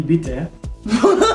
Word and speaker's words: bite: Ma belle di bite. Okay, that was wrong. Ma belle, di bite. Uh-huh. Bite. No, pronounce it the way it's pronounced in English.